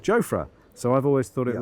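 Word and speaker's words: Jofra: year or two ago, he said it was really lovely to be there because people pronounced his name correctly. And when we asked what that was, he said Joffra.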